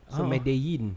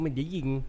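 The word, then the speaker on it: Medellín: medelin medin medin katel it's a silent l medeyin medeyin ye medeyin katel bukan medeying medeying tu macam buyak-bunyak medin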